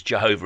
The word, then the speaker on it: Jehovah: Yahweh or Jehovah, because Jehovah is how we pronounce it in English.